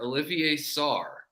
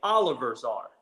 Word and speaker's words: Olivier Sarr: Former Wake Forest and Kentucky Star center Olivier Sarr now plays in the NBA. Or as Matt Jones pronounces his name, Oliver Sarr. Yeah, there's He's from France, so not how it's said.